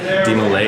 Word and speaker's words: DeMolay: So it's kind of like an open mindset with some strict guidelines or borders set up by DeMolay.